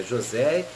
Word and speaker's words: José: tipo agora você né uns falam Josi mas não é Josi é José e a pronúncia Latina Você tem o Kátia